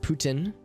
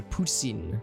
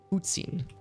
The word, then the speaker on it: poutine: He said Putin. The French-Canadian accent Had like a soft, interesting. Yeah, so poutine, maybe.